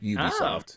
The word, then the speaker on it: Ubisoft: the two words there it's ubiquitous software that's why it's pronounced ubisoft so okay what's the